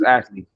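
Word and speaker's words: ישוע: Hebrew his name is Ashley the person that everybody worshiping as Jesus is Ashley yeah that's how you pronounce it cuz the letter as you know in Hebrew there is no letter j the letter that they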